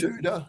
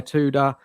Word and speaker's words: Tudor: Tuda. Is it Tuda? Is that the right pronounce? Tuda. Yeah. Yeah. Tuda.